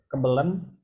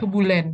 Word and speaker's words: Kebulen: Kebelen. Ini apa nih bacanya? Kebelen ya? Kebulen, kebulen, Mas. Kebulen.